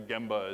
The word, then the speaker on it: gemba: gemba my Japanese colleagues corrected me that apparently gemba is the appropriate way or the correct way to pronounce this and it basically as I understand